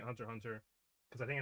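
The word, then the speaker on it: Hunter × Hunter: I'm stopping it Hunter Hunter because I think it's official pronation. I usually pronounce it Hunter X Hunter, but um I don't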